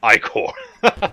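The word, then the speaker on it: ichor: it with magical equal that's pronounced I core you got me there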